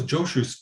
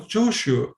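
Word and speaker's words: Jōshū: What was Joshu's placing his sandals over his head to do with the quarreling? Joshu is Japanese pronunciation of Jiaozhou.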